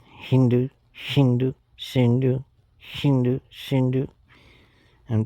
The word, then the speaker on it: Hindu: the as h so the Iranians and the Greeks pronounce the letter s s h oh maybe that's Hindu shindu Hindu Hindu shindu Hindu shindu